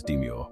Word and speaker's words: demure: that's a demure presence we pronounce demure as deure with the stress on the second syllable here's how you can